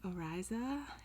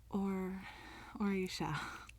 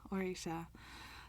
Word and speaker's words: Orisha: I guess I was saying Oriza, and it's Orisha. I forgot. Orisha.